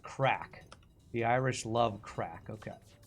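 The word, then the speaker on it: craic: go do something else so you know it's pronounced crack the Irish love crack okay a great dinner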